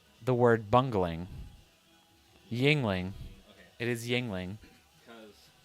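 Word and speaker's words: Yuengling: The only thing I knew about this beer was there was It's Yingling. Yingling. Yep. Just like the words jingling or mingling, not the word bungling. Yingling.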